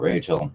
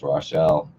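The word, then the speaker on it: Rachele: sitting with the ancient Rashelle. Not Rachel. Sorry, it's Rashelle.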